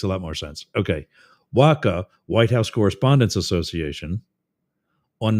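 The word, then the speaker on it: WHCA: WACKA is how we pronounce that.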